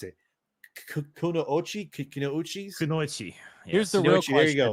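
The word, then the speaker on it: くノ一: They're called I never pronounce it. Kunoichi.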